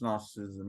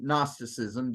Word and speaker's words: Gnosticism: But the name Gnosticism, Gnosis, is gnosis, comes from the Greek word gnosis, which means knowledge. And you notice, by the way, the G is silent. So it's like it's not there.